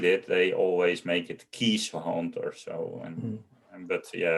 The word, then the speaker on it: Keeshond: Case like an Like CAS. Kees. Oh, okay. And then Hond, the Dutch way, Yeah.